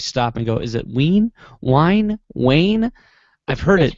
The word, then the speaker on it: Wein: notices but always stop and go is it ween wine Wayne I've heard it pronounced it's pronounced VN basically the W in German mixer and mix